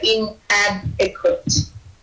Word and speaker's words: inadequate: excessively and inadequate so pronounce the d a little bit more so inadequate okay so um make